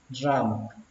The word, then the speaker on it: ramp: Đường ra khỏi quốc lộ thì các bạn đọc là exit, exit ramp, exit ramp, exit ramp. Các bạn nhớ là có âm P cuối.